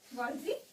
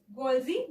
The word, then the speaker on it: Golgi: Golgi body. Golgi body. Golgi body is discovered by Camillo Golgi. Discovered by Camillo Golgi. Camillo Golgi. इसे गॉल्जी भी pronunciation कर सकते हैं, हम गॉल्गी भी कह सकते हैं, ठीक है.